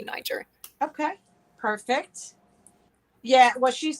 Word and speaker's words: Niger: you know it's funny there's a debate how to say the name and i have played many many little sound clips online to try and say it correctly niger is the way that i think that is um sort of typical of the region but most people do say niger okay perfect yeah well